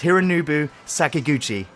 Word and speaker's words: Hironobu Sakaguchi: pronounce it. I think it's Hironobu Sakaguchi.